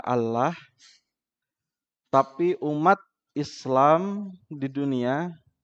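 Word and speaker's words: الله: di dalam bahasa Arab ada satu kata yang penulisannya berbeda dengan cara pengucapannya pronounciation apa itu Allah ditulis dengan alif lam lam ha biasanya dibaca Allah tapi umat Islam di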